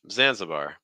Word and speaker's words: Zanzibar: us how you pronounce Zanzibar that middle syllable take on a schwas just reduce zanza zanza the stresses on xan so that means you're taking three steps down it's like Zanzibar Zanzibar Zanzibar just a note on